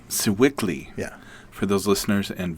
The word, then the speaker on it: Sewickley: So Sewickley, is that how you pronounce it? Sewickley. Sewickley.